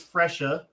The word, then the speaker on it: Fracia: Well, my character is Fresha. She is 8 years old. And it's spelled Fracia, and she is a gambler, so she's not gonna.